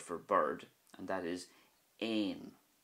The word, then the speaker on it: éan: But if you think of this word here, which is the Irish word for bird, and that is ain, ain, you can see the difference that a fada makes.